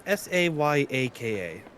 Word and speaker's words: Sayaka: Sayaka, I believe is how you pronounce the name. It's Sayaka.